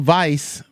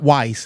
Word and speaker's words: Weiss: Mel Weiss, and it's not Weiss, it's Weiss. W is pronounced like a V.